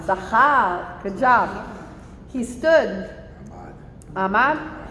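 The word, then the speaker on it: זכר: Right, remember, get your guttural on. Zachar.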